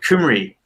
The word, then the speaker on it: Cymru: How to pronounce it correctly? Cymru.